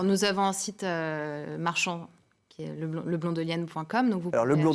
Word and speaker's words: Leblon-Delienne: on fait alors nous avons un site marchand leblon-delienne points comme vers le mont jolienne c'est quasiment comme ça se prononce sauf que le blond ya pas de